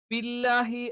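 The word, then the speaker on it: بِاللّٰهِ: ബില്ലാഹി എന്നതാണ് കറക്റ്റ്. ചിലപ്പോൾ നമ്മൾ എന്ത് ചെയ്യും? ഈ ബി, ഈ ഇകാരം പറയാതെ ഇകാരത്തിന്റെയും എന്ന് പറയുന്ന 2 ഉച്ചാരണങ്ങൾക്കിടയിലുള്ള ബില്ലാഹി, ചിലപ്പം ചില ആളുകൾ ബ് എന്ന് കറക്റ്റ് അങ്ങനെ തന്നെ ബില്ലാഹി എന്ന് പറയും. ചില ആളുകൾ ബ് അല്ല, അതേ സമയത്ത് ബിയുമല്ല. അത് രണ്ടിന്റെയും ഇടയിലുള്ള ഒരു ഉച്ചാരണവും നടത്താറുണ്ട്. ബില്ലാഹി. അതും തെറ്റാണ്.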